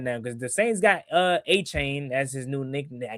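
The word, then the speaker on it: Etienne: Apparently, it's not ETN. Yeah, like nobody say how is that? It's weird. That? Yeah, he said that. Yeah, they was like, yeah, apparently we've been pronouncing it wrong. Like what? Yeah, he said his name is. Yeah, his name is Travis A-Chain apparently.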